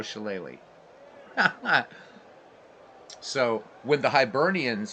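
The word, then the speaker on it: shillelagh: bloody phones and so that's why shalele is spelled the way it is so looks like sh but chele so there you go little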